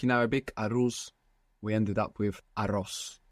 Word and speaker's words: arroz: So in Spanish, we have A-R-R-O-Z. It's just a simulation of al-ruz, arroz, to Spanish arroz.